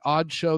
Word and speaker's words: (G)odd Show: find us at the odd show the g is silent it is God D